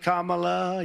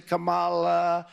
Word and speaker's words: Kamala: They were explaining to me, you can say Kamala, you can say Camala.